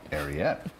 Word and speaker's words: Ariete: So, CBS4's Lisa Petrillo takes us inside, how do I pronounce it? Ariete. Ariete.